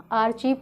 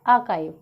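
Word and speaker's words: archive: Okay, बहुत सारे लोग इसको आर्चीव पढ़ते हैं, बहुत सारे लोग इसे आर्काइव पढ़ते हैं। ओके, जबकि ये वर्ड जो इसका राइट प्रोनाउंसिएशन है वो है आर्काइव।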